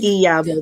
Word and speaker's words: Iyabo: Iyabo. The I Okay. is Iyabo. The Iyabo. I is pronounced as a E. Iyabo.